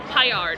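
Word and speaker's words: Paillard: And I got the rigatoni alla vodka and the chicken Payard. I realize that's the correct pronunciation on how to pronounce that.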